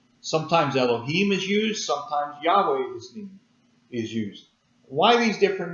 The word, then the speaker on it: Yahweh: We pronounce it Yahweh. Sometimes it's pronounced Jehovah.